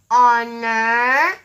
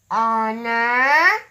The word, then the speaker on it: honor: You will hear a vowel sound starting these words. Let's do it together now. Honest, honor, our, and air. Honest, honor, our, and air.